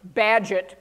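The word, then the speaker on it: Bagehot: reading a document from Walter badget by the way is how he the English pronounce his name don't ask me why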